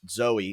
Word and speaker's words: Zoe: And I've fallen on this character named Zoe. It's spelled like Zooey, but Zoe, and she's like a paladin style with a sword and Zoe.